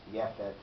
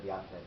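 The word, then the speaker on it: יפת: But what's interesting is when a person is reading from the Torah and says Yefet instead of Yafet, or Lechem instead of Lachem, Kesef instead of Kasef, they're not supposed to be stopped by the God, Correct.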